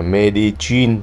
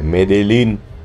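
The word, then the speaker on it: Medellín: Đầu tiên, để tránh hiểu lầm thì tên của thành phố này phải đọc là Medellin chứ không phải Medellin, tại vì hai chữ L trong tiếng Tây Ban Nha sẽ đọc thành chữ G.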